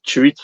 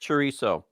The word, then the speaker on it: chorizo: Americans say chorizo. In Mexico, I want to say they say chorizo. The proper way is chorizo.